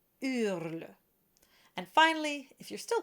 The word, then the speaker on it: hurle: And the third one, just so that you know, it starts with a silent H. So it's hurle.